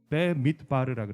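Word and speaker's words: במדבר: 한 게 아니에요 여러분 근데 히브리어로는 배 미트 바르라고 그래요 그럼 따라해 볼까요 4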